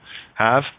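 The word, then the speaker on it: halve: Have, I have. I spell it H-A-L-V-E. The L's silent.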